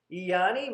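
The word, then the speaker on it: Eieyani: war on twin flames the there's the word iyani Massacre that's how I pronounce it hey Annie do you want to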